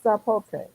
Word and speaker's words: sapote: Well, it is with an S, sapote. Sapote. I thought you did it with a Z. oh. Well, sometimes they pronounce that as a Z. Just depends on where the word of origin is.